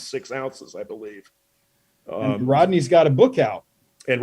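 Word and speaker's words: Rhodney: really and say his name one more time Rodney Honeycutt Rodney Honeycutt that's Blake's son but the Rodney is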